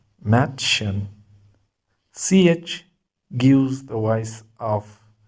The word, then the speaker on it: Mädchen: We pronounce M the same like in English. Words begin from letter M. M. Mädchen, Mädchen.